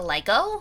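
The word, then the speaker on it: Legault: Then there's Lego, L-E-G-A-U-L-T. Sounds closer to Lego.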